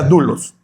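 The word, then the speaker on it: δοῦλος: La palabra esclavo aquí, mi hermano, viene del griego doulos, se pronuncia dulos y se refería a una persona que era propietaria de otra, ¿okay?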